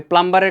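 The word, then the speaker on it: plumber: খুবই ডিটারমিন প্রয়োজনে আমি প্লামারের কাজ করে হলে আমি ইংরেজি শিখব নিজের পায়ে দাঁড়াবো রাইট এখন প্লামার শব্দটা কিন্তু উচ্চারণ প্লামার না এইযেবি সাউন্ডবি সাইলেন্ট এটা হবে প্লামারলামার কিরকম মানে পাইপ মিস্ত্রী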